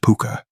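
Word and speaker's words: púca: In Ireland, there's a creature called the puka, pronounced puka.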